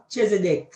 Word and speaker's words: Chezidek: Chezidek. Me pronounce it good?